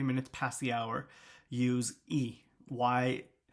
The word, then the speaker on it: y: past the hour use e why the letter Y is pronounced e in Spanish so 320 it's 3